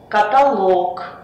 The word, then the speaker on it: каталог: рода который заканчивается налог ударение всегда будет падать на последний слог например монолог каталог некролог диалог только одно исключение аналог ударение